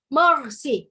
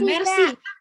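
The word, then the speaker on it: merci: Jepen Jepen Terus kalau Terima kasih itu worth ya dibacanya morsi ya karena bukan Mercy Shawn Mendes juga mobil Kak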